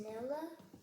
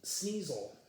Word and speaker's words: Sneasel: Is it pronounced Snella? Sneasel. Oh. Kind of like a weasel.